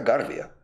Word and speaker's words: Garvia: No ha puesto el acento, entonces será Garvia. Y formación.